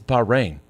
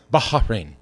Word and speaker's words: Bahrain: We were like, it's Bahrain. And then not somebody even right. from the Middle East sent us the pronunciation.